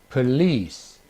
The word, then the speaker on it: police: The stress now is on the second. The stress is on the second syllable. Hotel, hotel, improve, improve, provide, provide, machine, machine, police, police.